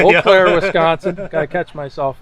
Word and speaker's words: Eau Claire: He said he was coming to Eau Claire, Wisconsin. Oh, Eau Claire. I said it wrong, didn't I? Eau Claire, Wisconsin.